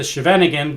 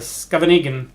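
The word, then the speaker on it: Scheveningen: to pronounce it the chevan again but somebody who uh lived near the town said uh now dan it's pronounced more like a scavenger of course i don't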